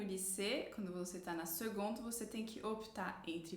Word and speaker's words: seconde: O primeiro colegial corresponde à seconde, se escreve com C, mas a gente pronuncia com G.